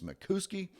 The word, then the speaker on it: Mickoski: Another person is Howdie Mickoski, but I think I've been told that the proper pronunciation is Mickoski.